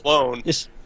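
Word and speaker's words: Colón: They pronounce it Cologne just to make it. Yeah, well, but it's spelled Colon.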